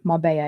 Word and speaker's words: Marbella: I got him in Marbella in Spain. Marbella. It's spelt Marbella, but it's pronounced Marbella.